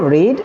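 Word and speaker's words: read: उसके बाद past form को हम रेड पढ़ेंगे और थर्ड फॉर्म जिसको हम पास्ट पार्टिसिपल फॉर्म कहते हैं इसको भी हम रेड ही पढ़ेंगे। लेकिन स्पेलिंग इसकी चेंज नहीं होगी, सेम होगी, ठीक है ना, जिसकी माना पढ़ना।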